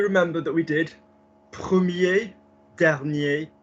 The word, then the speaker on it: dernier: They're just words that are commonly mispronounced, like, because commonly what happens is premier, as we've just seen, or dernier, or petit, and it's not. It's premier, première, dernier, dernière, petit, petite.